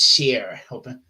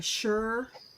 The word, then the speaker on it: shire: here here uh but we have the word Shire at the end where it's pronounced but I've said that it's pronounced sheer like like Lancashire or or or uh lit or something like that the Northeast the don't they say sure rather than sheer up in northern England um like a sure